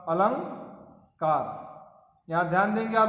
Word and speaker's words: अलंकार: उदाहरण देखिए, अलंकार शब्द में अनुस्वार क से पहले आया है, अतः इसका उच्चारण होगा अलंकार।